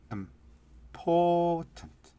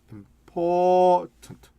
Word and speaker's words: important: important. 이게 영어는 이렇게 important. 왕 커졌다가 촥 줄어들어요.